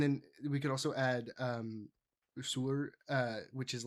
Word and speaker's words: saor: And then we could also add Sur, which is like it's just means freed. But I figured that would be too many words. But it's spelled SAOR for Sore.